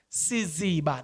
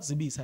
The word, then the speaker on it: Siziba: Sorry, guys, I've been pronouncing the same name incorrectly. Siziba, not Zibisa, Siziba, who was also sleeping